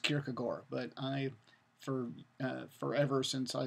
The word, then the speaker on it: Kierkegaard: graveyard so and also in Danish I understand that it's pronounced Kierkegaard I for forever since